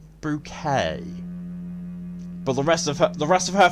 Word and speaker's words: Bucket: And the main joke is that her surname is Bucket, but she pronounces it Bouquet.